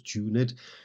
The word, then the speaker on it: tuned: If this offends him, and note incidentally that tuned here has two syllables, tuned, they do but sweetly tide thee who confounds in singleness the parts that thou should bear.